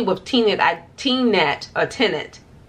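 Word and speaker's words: Tenet: multiple times especially with tina that t-net a tenant it's pronounced not t-net it's tenant i started watching the movie i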